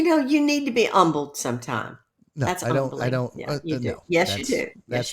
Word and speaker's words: Humble: you need to be humbled sometime yes you do that's the most ridiculous thing yeah I don't know why you put a silent h in Humble but I'm not humbled